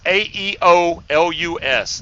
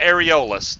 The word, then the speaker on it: Aeolus: of juice in there it is aeolus not areolas that gum everybody thinks it's got to do with boobs oh okay fine y'all